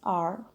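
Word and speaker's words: hour: Well, the reason for that is that the H in R is silent. So we basically read it as R, O sound.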